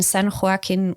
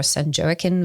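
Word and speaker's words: San Joaquin: Um, you have grown up in San Huarkin Valley or Sanjoken Valley depending on on how Latino one wants to be in the pronunciation.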